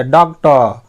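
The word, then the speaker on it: doctor: जब भी आर के पहले कोई वॉल्स देखेंगे ना तो वहां पे आर का उच्चारण ज्यादा मत कीजिएगा, अ बोल दीजिएगा, तो वो हो जाएगा, आधा भी उच्चारित किया। डॉक्टर, आई can cure any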